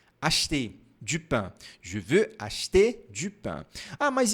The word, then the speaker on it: acheter: Algo interessante sobre esse verbo é que quando nós falamos bem devagar, nós pronunciamos acheter. acheter. Que aí tem o biquinho aqui, ó. Acheter, acheter. Porém, na vida cotidiana, a gente não fala devagar desse jeito. A gente fala rápido.